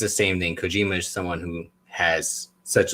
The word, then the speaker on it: Kojima: We got John Moxley going against it's Kojima, right? Yeah, Satoshi Kojima. Yeah, I listened to just double check the pronunciation, but I know you're a big New Japan guy.